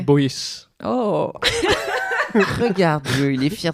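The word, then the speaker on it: Boyet: c'est parce que Boy, avant, s'écrit B-O-Y-E-T. Et c'est Ah, prononcé ouais. Boyes.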